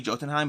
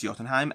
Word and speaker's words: Jotunheim: be so we have jotunheim i see i always want to say jotunheim but i've watched enough marvel now that i know it's jotunheim and yes if you